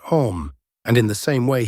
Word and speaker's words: homme: bark, he learned from D'Arnaud that it was pronounced homme, and in the same way he was taught to pronounce ape, singe, and tree.